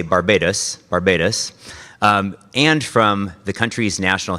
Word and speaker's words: Barbados: I think my experience in Barbados and the Eastern Caribbean really have shaped me,